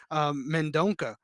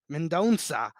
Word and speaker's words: Mendonça: Nate Maness versus Mendonca. Mendonça. Shout out to my slight Portuguese that I know. That's the only reason I know how to pronounce that C.